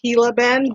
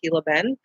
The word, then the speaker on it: Gila Bend: Most of you will not know that it's pronounced Gila Bend because it's spelled Gila, but it is pronounced Gila Bend.